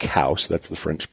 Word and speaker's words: Coues: naturalist named Elliot cows his name was pronounced like house people would mispronounce all the time saying cows like a cow kind